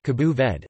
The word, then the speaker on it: Cabo Verde: Cape Verde, listen, or Cabo Verde, listen, Portuguese, Cabo Verde, pronounced Cabo Verde, officially the Republic of Cabo Verde, is an